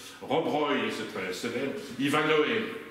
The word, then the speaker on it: Ivanhoe: Ivanhoe, Ivanou, il paraît qu'on prononce comme ça.